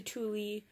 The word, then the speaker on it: Thule: kind of why people went to Thule, or Thule, it's actually truly pronounced Thule, guys.